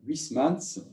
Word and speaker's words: Huysmans: Le père Dominique Cupillard, toujours, nous parlera de la conversion de Joris Karl Huysmans, comme on prononce en français, qui est, lui, décédé en 1907.